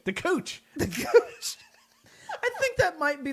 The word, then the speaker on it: Kooch: this episode the couch the couch the couch a lot of disappointed people when they click on an episode it'll be cool well if you start it if you spell it k oo ch they're gonna wonder so